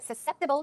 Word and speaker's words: susceptible: tired your body's more susceptible to getting sick the pronunciation is susceptible not Su susceptible susceptible susceptible okay so if you